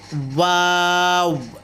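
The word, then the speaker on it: و: এরপর হলো ওয়াও, ওয়াও। এটা কিন্তু মুখ ঠোঁটটায় পুরো গোল করতে চেষ্টা করবেন।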